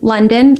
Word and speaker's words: Lunden: life like London l-i-f-e-l-i-k-e London l-u-n-d-e-n I spelled a little different than the city but it's pronounced like the city um and then yeah